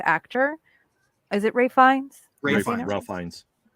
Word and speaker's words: Ralph: Ralph Fiennes. I think he pronounces it Ray, right?